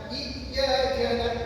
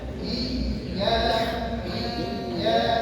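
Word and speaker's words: إِيَّاكَ: Ini sama seperti iyaka na'budu iyaka na'budu tidak dibaca iyaka iya tidak seperti itu. Tapi bacanya iya iya. 1 2 3 iya ada mengalirnya ada menekannya.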